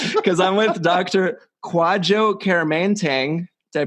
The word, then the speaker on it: Kwadwo Kyeremanteng: quad jokerman tang they pronounced that right yes nailed it and he